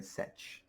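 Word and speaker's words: sech: to be the hyperbolic seecant function also called set. That one almost makes sense, right? Setch.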